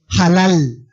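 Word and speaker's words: הלל: Al que está enseguida Dígale con h al principio también pero se pronuncia de esa manera halal eso es esto es hebreo por supuesto halal Sabe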